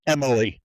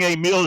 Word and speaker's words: Emile: to hang out with didn't know how to pronounce Emile, and they would just call me Emily.